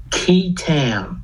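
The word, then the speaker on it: qui tam: the false claims act there's something called a key tam lawsuit have you ever heard of this no people have not it's spelled q-u-i-t-a-m okay actually goes back to english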